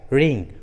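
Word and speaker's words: wring: शुरू में रहता है, तब डब्ल्यू का उच्चारण नहीं करते, जैसे राइट, रिंग, रॉन्ग, रिस्ट।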